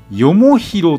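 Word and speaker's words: 東西南北: 東西南北と書いてよもひろという名字の人がおります。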